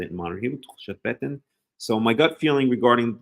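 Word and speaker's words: תחושת בטן: So talking about Tchushat Beten, talking about gut feeling, and that's how you say it in modern Hebrew, Tchushat Beten.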